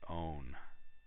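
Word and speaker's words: -one: would be a ketone this suffix are ending is 0 NE pronounced own ok so what would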